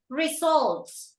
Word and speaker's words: results: in this one is results results results right stress on the second syllable okay resols you don't